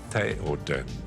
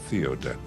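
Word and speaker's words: Théoden: And it's Gandalf, not Gandalf. It's Gandalf. It is Saruman. It is Theoden, not Theoden.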